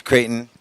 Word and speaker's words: Creighton: That's Creighton. It's a weird name. Oh, Creighton. Oh, did I say it wrong? It's Creighton.